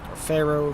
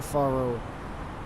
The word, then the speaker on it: Faro: Faro after this one Pharaoh Faro however you prefer to pronounce it am I to assume